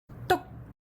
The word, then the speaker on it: to̍k: The eighth tone is tok. We add a tone mark for this one. It's short and pronounced at a higher pitch.